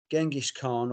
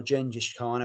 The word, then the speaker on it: Genghis Khan: It started with the Ides of March, Rothschild, Sanctuary, Purgatory, Drifter, Murders in the Rue Morgue, Remember Tomorrow, Genghis Khan or Gengis Khan, however you want to pronounce it, Killers, Charlotte the Harlot, Transylvania, Phantom of the Opera, Running Free, Prowler, and Iron Maiden.